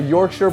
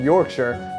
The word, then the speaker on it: Yorkshire: day I tried a Yorkshire pudding for the first time and I found out it's pronounced in Yorkshire not York Shire has really nice that's